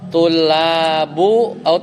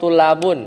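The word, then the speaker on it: طُلَّابُ: Tulabu atau tulabun? Tulabu. Hah? Tulabu. Tulabu. Ya. Kenapa? Karena dia fail. Karena dia pelaku. Jadi bacanya tulabu. Kenapa enggak tulabun? Wahua mudhaof. Karena dia mudof.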